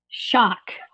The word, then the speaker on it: Schoch: a Boston University professor Robert how do you pronounce it shock shock Robert Schoch yeah I mean Anna Moulton Howe and other